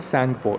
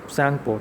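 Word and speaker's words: Tsangpo: अब यहाँ पे सैंगपो में टी आपका साइलेंट है, आपको इसको बोलना है, प्रोनाउंस करना है सैंगपो। इट is pronounce like सैंगपो, T silent है, ओके।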